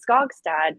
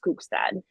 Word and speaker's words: Skogstad: It's Skogstad, but it's properly pronounced Skookstad. Oh, okay. But yeah, but we can say Skogstad.